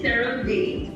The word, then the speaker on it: CeraVe: So it is CeraVe, that is how you say it. And why it's CeraVe is because it's a combination of the two kind of core technologies within our formula. So it's ceramide, so it's CERA, and then the VE